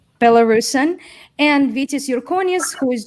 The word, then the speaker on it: Belarusian: here uh frank via he is a belarusian would that be the correct pronunciation or a bella russian which one oh by the way let me and meet you bellarson it's better belarusian and vitas yorkonis who